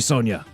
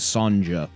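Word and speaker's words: Sonja: take them don't worry sonia i will go i always used to think her name was sanja it's sonia like s-o-n-i-a but spelt with a silent j but but father you're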